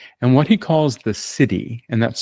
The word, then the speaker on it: siddhi: shadow, which are negative patterns, gift level, which is your creative potential, and what he calls the city, and that's spelled SI Dhi or divine manifestation pattern.